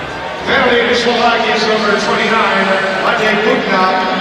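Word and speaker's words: Matej: Penalty to Slovakia's number 29, Mate Bukna, 2 minutes for holding. Time of the penalty, 1:59. Mate Bukna, and I called him Joseph.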